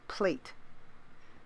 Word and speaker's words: plait: I've noticed that some Americans don't say plait, they say plait. I mean, it's spelled P-L-A-I-T, but it's pronounced plait.